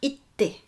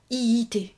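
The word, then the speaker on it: 行って: ça donnera itte, itte. Donc là, c'est le petit tsu dont je vous parlais. Il faut retenir itte, itte. Et non pas iite.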